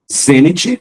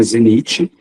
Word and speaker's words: zênite: Zênite, não é zenite.